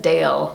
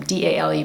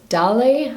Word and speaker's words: Dale: So it's Dale, I'm pretty sure I'm doing, because she said it's like the D-A like dark and L-E like less, like Dale.